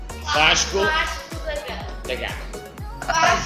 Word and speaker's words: Vasco da Gama: Can anyone tell me how I can pronounce this name? correctly? Is it Vasco da Gama? Vasco da Gama.